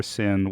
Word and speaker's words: sine: a lot of uh pure sin wave and sin is spelled s-i-n-e uh lithium-ion inverters that